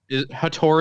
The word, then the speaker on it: Hator: a guy zary's angel I'm gonna say haters funny even though she was pretty good in the movie a tour is definitely probably how it is actually supposed to be pronounced so out of respect I will say hator uh playing Maisie and